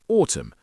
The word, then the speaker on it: autumn: A silent letter is a letter which is not pronounced. For example, the N in autumn.